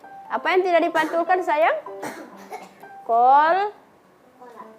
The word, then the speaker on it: qalqalah: Kol kola. Kolkola bukan kola ya, Kak Habib ya. Bukan kola.